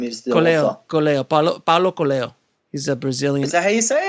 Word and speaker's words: Coelho: Paulo Coelho, I think his name is the author. Paulo Coelho.